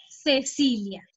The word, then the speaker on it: Cecilia: En cambio, en español, ese nombre de Cecilia es Cecilia. ¿Sí? Ok. Sí, la pronunciación es una C, pero se pronuncia como la S.